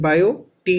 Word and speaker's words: Biot: Okay, here in bio T is silent. Okay, so you will pronunciate Biot Savart's law.